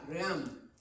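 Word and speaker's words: realm: Es lo que se llama, en inglés se dice RAM, ¿no? Ream. Se escribe R-E-A-L-M.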